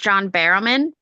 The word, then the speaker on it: John Barrowman: So I do believe his name is pronounced John Barrowman.